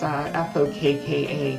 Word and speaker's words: Fokka: But just want to make sure it's Fokka, not Yes. a different other word that we're not going to use on stream. Correct. Made sure to pronounce it with a long O.